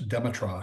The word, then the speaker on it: Demetra: Another one, Bob, would be Shellyak's Demetra. At least that's how that's how Francois pronounces it. So that's how I pronounce it.